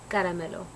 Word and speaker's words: Caramelo: keep on calling her caramelo but like really how do you how do you say your name it's it's funny it's caramel um i talked to